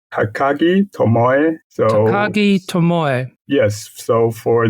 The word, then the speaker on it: Takagi Tomoe: Takagi Tomoe.